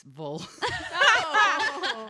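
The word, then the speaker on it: Volva: it's beautiful card vulva isn't that bad like part of your vagina uh it's not vulva it's vol v-o-l-v-a so i was like wow let me just feminine energy let's consult the book number 30.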